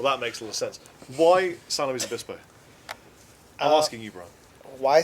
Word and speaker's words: San Luis Obispo: Why San Luis Obispo? I'm asking you, Brian. Why San Luis Obispo? Well, and how do you pronounce it? San Luis Obispo. San Luis People that call it Obispo. Louis.